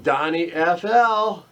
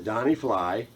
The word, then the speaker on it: DonnyFL: I say DonnyFL, I don't know why, it's DonnyFL, but for some reason, for 5 years, I've always called him DonnyFL. I don't know why, but it rhymes with fly.